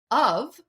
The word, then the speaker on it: of: Even defining the word of, where F is pronounced like the letter V.